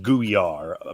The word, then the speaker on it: Guyar: Or how do you Spelled as you see it, and it's pronounced Guyar. Micah Imperato in the one of our leagues says slime pirate.